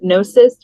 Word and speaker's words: gnosis: and then we decided gnosis with the silent G yes we happen to